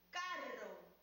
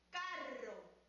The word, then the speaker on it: carro: Pronuncien conmigo, carro. ¿Dónde escuchamos el sonido rrr? En la segunda sílaba. Volvamos a escuchar, carro.